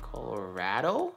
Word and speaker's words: Colorado: us Illinois Colorado right while you may have been saying Colorado locals will tell you that it's better to say Colorado are you for real Colorado with the second syllable rhyming with bad I had no idea